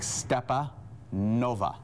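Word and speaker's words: Stepanova: n o v a so it's like stepa nova there's no r in there you know what step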